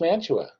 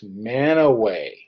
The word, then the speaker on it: Mantua: at this and say oh that's that's Mantua well actually know the correct pronunciation to that is man away now if you look